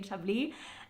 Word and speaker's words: Chablis: cais okay okay it's very for the S is silent in shabi why I'm getting so nervous I don't know but s is silent in shabi but it's sh it's a beautiful it's like